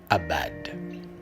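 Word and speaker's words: עבד: Le mot hébraïque, dans la racine primaire qui explique servir, c'est le mot qui se prononce en hébreu abad.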